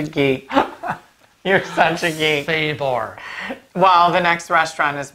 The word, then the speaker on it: Sabor: I believe it's pronounced Sabor. And it's Spanish, okay?